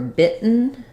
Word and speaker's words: bitten: can beaten beaten and for bitten same thing we're going to have the I vow an unreleased T and an N sound so um she's beaten